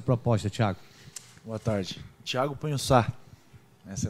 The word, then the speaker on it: Pagnussat: Thiago Punhoçá. Essa é a pronúncia certa.